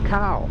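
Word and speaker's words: ข้าว: So rice in Thai is khao, falling tone, khao, falling tone, long vowel.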